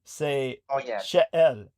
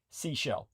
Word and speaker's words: Seychelles: Anyhow, so the French pronunciation, because it used to be a French colony, would be Seychelles. So please pronounce it that way. But Americans, you might as well just say Seashell.